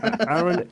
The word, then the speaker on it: Aaron: No, tell me, are you on the American pronunciation of Aaron or the European one? Are you an Aaron or an Aaron? I'm an Aaron.